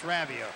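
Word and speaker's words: Raivio: We asked Derek Rav Ravio today, how do you pronounce Ravio? Some people say Ravio. He said it's Ravio.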